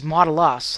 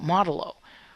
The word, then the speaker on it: modulo: I think it's Modulo. Modulo. I've heard it as Modulus. I know there's no S in here, but I've heard it from other places that way. But Modulo.